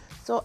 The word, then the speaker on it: Sau: Season 6, Episode 17, titled Sau Lady like So Lady Like, and it's spelled Sau.